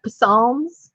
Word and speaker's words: psalms: book in the bible is that psalms no oh psalms y it's got a p well i thought you